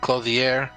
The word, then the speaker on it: Clothier: You know, go to the Clothier.